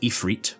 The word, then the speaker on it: Ifrit: I know it's meant to be pronounced Ifrit, by the way, but I just can't do it. I've been saying Ifrit like this since I was 4 years old, and I'm not going to stop, so sorry about that.